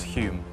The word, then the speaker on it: Home: Uh, I'm going to say Alec Douglas Hume, but I think it's spelled home.